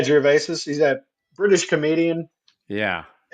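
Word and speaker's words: Gervais: Is it Ricky Gervesus? Oh, that Jerves. Yeah, Jerves.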